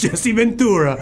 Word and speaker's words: Jesse Ventura: how to say your own father's name it's Jessie Ventura all right are you kidding